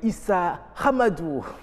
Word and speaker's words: Issa Hamadou: merci d'être sur ce plateau lui on l'appelle Issa Hamadou bonjour bonjour comment allez-vous ça va j'espère l'avir bien prononcé oui effectivement voil il faut vraiment manger